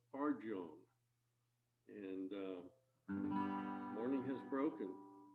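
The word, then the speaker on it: Farjeon: by eleanor f-a-r-j-e-o-n and i didn't know how to pronounce this i i kept trying to give it a latino pronunciation photon but no in fact it is eleanor fargone and morning has broken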